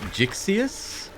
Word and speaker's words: Gixius: Gixius is his name. It's pronounced Gixius, the creator of the character.